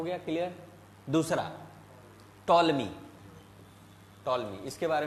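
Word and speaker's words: Ptolemy: टॉलमी, P silent होता है, okay, तो है ना? पी क्या होता है? साइलेंट होता है। जैसे साइकोलॉजी है ना, तो टॉलमी road geography of India in second century AD.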